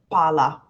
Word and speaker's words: pala: We do not in Italian, but we pronounce the L sound for longer. So the first word is palla. The second word is pala.